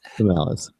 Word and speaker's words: Canalys: an analyst at the tech research firm called Canalysis. Canalis? Let's spell that. Canalys. Canalis.